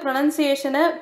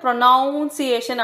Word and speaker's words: pronunciation: நிறைய பேர் ப்ரொனன்சியேஷனை ப்ரொனவுன்சியேஷன் அப்படின்னு சொல்லுவாங்க. அதுக்கு சொல்கிறதுக்கு ரீசன் என்னென்னா ப்ரொனவுன்ஸ்னு ஒரு வார்த்தை இருக்குது, அதை ப்ரொனவுன்ஸ்னு தான் சொல்லணும். ஆனால் ப்ரொனன்சியேஷனை ப்ரொனவுன்சியேஷன் அப்படின்னு சொல்லக்கூடாது, ப்ரொனன்சியேஷன் அப்படின்னு தான் சொல்லணும்.